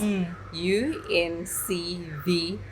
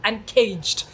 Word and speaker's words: Uncvge: people would ask me, what is the name? And you're like, Uncvge. And they're like, Uncaged. Like with the E-D. With a D. No.